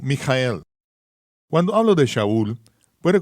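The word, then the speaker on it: מיכאל: es como él es migel en ruso Miguel en español y Michael en inglés hay diferentes pronunciaciones dependiendo de los sonidos comunes de la lengua nativa pero el nombre sigue siendo mijael cuando hablo de shaul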